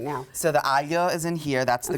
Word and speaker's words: aglio: Is it aglio olio? It's really hard because we don't have the sound in English, but it's aglio.